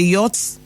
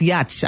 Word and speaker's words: yacht: that's when i want to relax there's a yacht that i spelled to you out for them what's some book pronounced yatch i don't know where they got that from